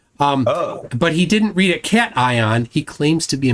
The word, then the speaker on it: cation: says that sodium is the major and then CATION, how would you pronounce that word? CATION.